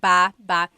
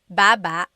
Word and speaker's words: baba: So depending on how you're saying it, it could be ba chin baba. Emphasis is on the first syllable. Baba. Then there's baba baba. Emphasis is on the second syllable syllable.